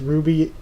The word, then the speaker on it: RWBY: CoolFu270 said, "Okay, you shouldn't pronounce FUG as Fug, but pronounce RWBY as Ruby is okay."